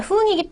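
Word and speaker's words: 分: 흥이라고 기본 발음을 합니다. 자, 흥이기 때문에 하행이죠.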